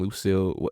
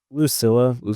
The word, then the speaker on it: Lucilla: the whole flashback and Lucille is it lucill or Lucilla uh Lucilla they keep like mispronouncing it okay uh her character